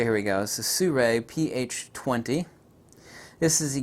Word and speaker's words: SIRUI: is the carbon-fiber su Ray I actually always mispronounced the company Ryan called Siri and then the SU ray told me then I always say it like su and then ray say here we go sue ray ph 20 this is a gimbal head I